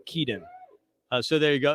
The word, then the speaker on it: Keaton: kidan keaton keaton keaton we are debating the uh pronunciation of keaton slovis it is key we uh we looked up a video of him saying the name and he says keaton uh so there you